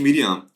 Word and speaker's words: Miriam: dela é miliano literalmente Miriam é um dos poucos nomes bíblicos se o hebraico é igualzinho o português tá porque iríamos com ele no final então a pronúncia Hebraica igual o português os poucos casos mas